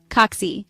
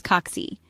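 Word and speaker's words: kaksi: kite then say oxy it rhymes with taxi notice how the a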